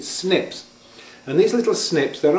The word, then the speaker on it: SNPs: call single nucleotide polymorphism it's usually abbreviated to snps and we usually pronounce it snips and these little snips